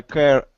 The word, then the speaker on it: KARE: All right, her story was highlighted recently by KARE 11 TV, K-A-R-E. That's how we say the. You see ABC, NBC, CBS, and so when you're talking about TV stations, we actually say the letter.